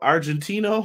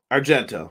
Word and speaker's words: Argento: He went up against Cristiano Argentino, I think is how you say his name. Yes. Or excuse me, I said that wrong. Cristiano Argentino. Yes. Argento. Yeah.